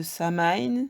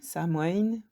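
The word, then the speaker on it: Samhain: aussi les origines d'Halloween c'est la fête celte de samine samoën plusieurs prononciations je parle pas 7 et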